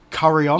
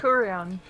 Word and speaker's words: Curion: Curry On. Yay! I know it's not pronounced like that, but it's the only way I can remember the name of it. Curion.